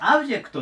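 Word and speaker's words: object: で、アクセントもこの最初のここに来てと言います。 OBジェクトでオブジェクトで基本的に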